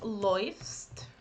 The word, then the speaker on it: läufst: So it goes like, just a second, it goes like du läufst, er sie es läuft. So the combination of these two, it's oi.